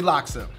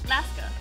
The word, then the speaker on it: laksa: Linda, earlier, you did have an interesting pronunciation of laksa. Alaska, like Alaska. Is it not Alaska? It's LAKSA, L-A-K-S-A.